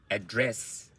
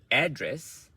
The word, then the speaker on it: address: Okay, so you see, it's address. Okay, this is a verb, address. So if you stress it differently, address, that is a noun.